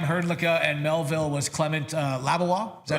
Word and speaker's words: Labois: Estevan was Cam Herdlicka and Melville was Clement Labois. Is that how you pronounce that? Yeah. Labois.